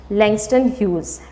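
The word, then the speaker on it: Langston Hughes: ठीक है, इसमें जी जो लेटर है वो साइलेंट है। You will pronounce it एज लैंगस्टन ह्यूज, right.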